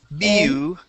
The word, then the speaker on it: ambulance: before there so am ambulance ambulance ambulance good and that a at the end would be an e sound ambul ambulance not Lance but lens ambulance try that ambulance good